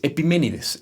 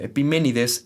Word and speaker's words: Epiménides: Epiménides, eso es así como se pronuncia, Epiménides, el Cretense, año 600 antes de Cristo.